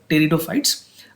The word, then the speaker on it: pteridophytes: Pteridophytes की अगर बात करें, P is silent here, so it's called pteridophytes.